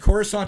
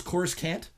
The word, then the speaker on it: Coruscant: cues, there's a lot of things that were mispronounced. I wrote down some of them. Bespin is Bespin. And Coruscant is Coruscant.